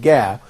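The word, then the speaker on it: ج: be sometimes pronounced as, rather than jim, or ja, sometimes it's pronounced like ga. And I think that the difference here between ga and ja, when it comes on the phonetic level, they are different, because ja is a fricative, but ga is fricative.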